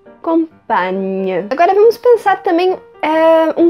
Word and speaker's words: compagne: Então, le compagnon et la compagne. Le compagnon et la compagne. Lembrando que vai ter esse GN, que é um pouco parecido com o nosso NH, tem o som de nhe. Então, compagnon, compagne.